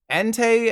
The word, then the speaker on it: Entei: Unless you're one of those crazy people who called it Entei and Suicune, Entei and Suicune are all pronounced how you think.